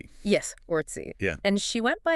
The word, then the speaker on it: Orczy: Because I read in an old copy of the Literary Digest that she insisted on the pronunciation Ortsy. Yes, Ortsy.